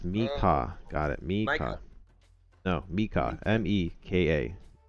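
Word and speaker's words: Meka: token um I know somebody's token yeah it's pronounced Mika got it me Mika m-e-k-a now he built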